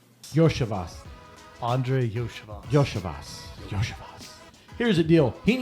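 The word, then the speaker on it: Iosivas: Losavas. How you say his name? Yoshivas.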